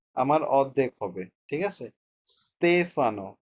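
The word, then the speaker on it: Stefano: সতেফানো ওকে এরকম উচ্চারণ হবে।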